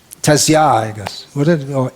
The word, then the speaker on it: tasya: But in proper Sanskrit pronunciation, it should be tasya. Firm, solid, sa.